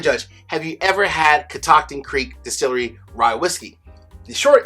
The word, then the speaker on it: Catoctin Creek: First and foremost, it is pronounced Catoctin Creek.